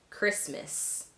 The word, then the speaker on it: Christmas: Other common words in the English language with a silent T: mortgage, Christmas, chestnuts. These you'll just have to memorize.